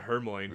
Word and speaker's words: Hermione: I always pronounce it Hermione.